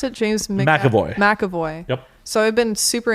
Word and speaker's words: McAvoy: Is that how you pronounce it? James McAvoy. McAvoy.